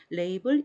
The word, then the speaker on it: label: 때나 베루스 줘 그 라벨이 입니다 그래서 못 아벨 아벨 그 모 환경 설정 할 때도 라벨을 붙여 라 그림엔 아벨 붙여 라 이름표 부처럼 그때 그 라벨이 인데요 읽을 때는 레이블 이라고 읽어요 그리고 인 레이블에 용도는